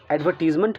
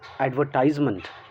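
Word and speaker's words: advertisement: लग जाता है सफिक्स, तो आप इसे एडवर्टीज़मेंट क्यों पढ़ने लगते हैं? ये गलत है ना। It's correct pronunciation is एडवर्टाइजमेंट। जाइए डिक्शनरी देखिए, यही करेक्ट है।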